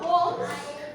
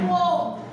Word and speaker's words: poem: We are doing some poems. That is not the correct pronunciation. આપણે ઘણાએ પોયમ બોલે છે પણ English પોમ. Repeat poem. Poem નહીં. Poem. Yeah. Poem.